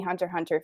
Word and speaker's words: Hunter x Hunter: you talk to any hunter hunter fans like they all have a different favorite character because they're all so fleshed out amazingly and you're not supposed to pronounce the X you easy said is